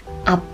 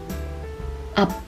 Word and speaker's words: 앞: Let's look at another example, 앞, which means in front of, and we pronounce this like 앞, 앞.